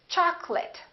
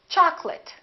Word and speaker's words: chocolate: get wrong we don't say cholate we say chocolate and remember don't say chocolate it's chocolate I'd like some chocolate and this next word